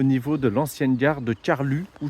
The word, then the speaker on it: Carlux: de l'ancienne gare de Carlu ou Carlux je crois que c'est Carlu qu'on dit n'hésitez pas à me